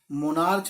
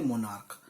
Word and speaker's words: monarch: में लिखते हैं MONARCH, मोनार्च नहीं बोलते, इसे बोलते मोनार्क। तो इसमें आखिरी में जो साउंड है हमारी, आखिरी में MONARCH तो आ रहा है, लेकिन CH की साउंड क में चली जाती है, मोनार्क।